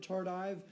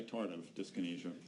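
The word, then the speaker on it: tardive dyskinesia: I've heard tardive and tardiff. I would say tardive disynesia.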